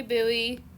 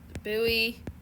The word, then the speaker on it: buoy: to spell it already it's like boy except you put a u in between and yep how far is buoy from Lighthouse so we